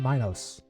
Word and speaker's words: Minos: The I in Minos is pronounced E. So, Minos or Minos?